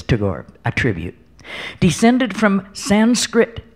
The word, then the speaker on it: Tagore: little tribute to Tagore I actually used to pronounce his name wrong I thought it was too gory and Ashok bhargava said to me no no no it's Tagore and let's listen home really